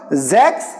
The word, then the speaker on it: sechs: Okay, and similarly, this S, like you have got now these two words, Sechs and Sieben. If initial letters, initial alphabet, we are having S, we will pronounce it as Z.